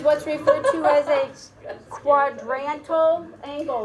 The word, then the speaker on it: quadrantal: It sounds weird, quadrantal angle. Think about the fact that it's got quadrant in it, so keep that in mind when you're thinking about this. Quadrantal is how that's pronounced.